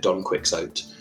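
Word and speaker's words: Don Quixote: My my old English teacher at university refused to pronounce Doniotei in the Spanish way and would always call it donquicks.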